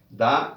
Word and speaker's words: the: la pronunciación del artículo, que tiene dos pronunciaciones, dependiendo de dónde se ubique o antes de qué palabra.